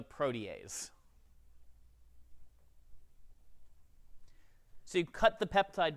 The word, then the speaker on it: protease: what's called a protease please do not call it a protees it's spelled that way I know it's a protease so you cut the